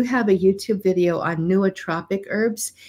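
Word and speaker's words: nootropic: here I do have a YouTube video on neotropic herbs it's spelled n o o t r o p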